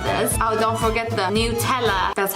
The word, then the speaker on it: Nutella: Oh, don't forget the Nutella. That's how it's pronounced, by the way.